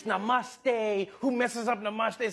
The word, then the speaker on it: namaste: Namaste, Chiwala, Gujarat, Sardar Patel, Ashram, Sachin Tendulkar, Gujarat, Goa, Diwali.